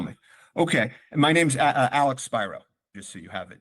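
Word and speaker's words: Spiro: you can't tell me okay my name's Alex Spyro just so you have it if you need it how to pronounce the last name byro your son who's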